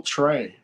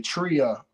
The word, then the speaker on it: Trea: always spell it TR whenever it spelled TR EA they want to say Tria and like but the a supposed to be silent on my name that's why it's Trey